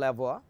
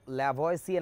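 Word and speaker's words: Lavoisier: সেই বিজ্ঞানীর নাম তোমরা জানো, অ্যান্টোনিও ল্যাভোয়া। তোমরা যাকে অবশ্য ল্যাভয়েসিয়ে নামে চিনো, হ্যাঁ আমি তার কথাই বলছি, আসল উচ্চারণটা ল্যাভোয়া। এই ধরনের একটা উচ্চারণ, আমার উচ্চারণ হচ্ছে না, বুঝতেই পারছো বিদেশি ভাষা।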